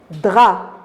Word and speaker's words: draps: paix garder la couverture du lit draps j'ai pas prononcer la lettre e p c'est une lettre y